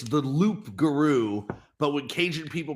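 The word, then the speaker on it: loup-garou: Well, so the lugaru is the real it's it's the loop guru, but when cajun people pronounce it, they pronounce it rugaroo, but it's actually it's it's actually loop guru and it's it's French.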